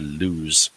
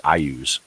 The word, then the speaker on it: Iuz: And a treatise concerning the demigod Luz and its minions. Or no, I'm sorry. I think it's actually Iuz and its minions.